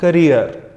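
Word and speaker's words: career: पहले वाले को कैरियर नहीं कहते, वो सेकंड वन का प्रोनाउंसिएशन है। First one is your करियर। हाँ जी, इसे करियर पढ़ा जाता है, कैरियर नहीं होता।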